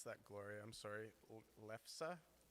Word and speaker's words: lefse: Lefsa? Lefsa! Norwegian crepe dish? Yes? Okay, good. Lefsa!